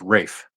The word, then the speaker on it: Ralph: I thought it was it's Ralph findes it's spelled Ralph but it's Rafe oh ra Rafe finds